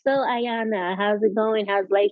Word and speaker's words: Ayanna: Oh, It's Ayanna, Ayanna.